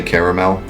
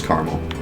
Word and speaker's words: caramel: The way Americans say caramel makes me feel bad. Why do you say caramel? It's wrong. It's caramel.